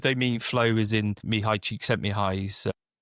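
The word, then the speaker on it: Csikszentmihalyi: So me high cheek sent me high.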